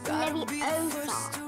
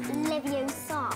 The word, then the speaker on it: Leviosa: You're saying it wrong. It's Leviosa, not Leviosa. Honestly, don't you two read?